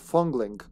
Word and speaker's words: Fong Ling: Her name's supposed to be Fong Ling. But for some reason here it's spelled Fongling.